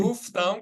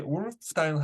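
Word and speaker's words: wolf down: 모음 다음에 L이 오는 경우에 거의 L 발음을 거의 안 해요. 오프 다운이지 올프 다운 하지 마시라는 거예요.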